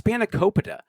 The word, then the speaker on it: spanakopita: And, he's not even pronouncing the food correctly. Oh, with the spanakopita? Yeah, it's spanakopita.